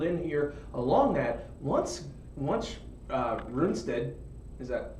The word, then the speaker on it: Rundstedt: Once Rundstedt Is that how you say his name again? Yeah. Once you get Rundstedt in the tank, the armored division coming through, they're cut off.